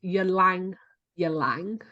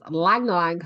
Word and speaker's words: Ylang ylang: always thought it was yolang ylang okay no the Y is silent the Y is silent so it's Lang Lang so if you think